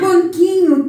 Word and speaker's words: banquinho: Mas banquinho tem dígrafos. Quantos? Vamos ver. Aqui a N, ban, aqui o QU, eu não ouço U, banqui.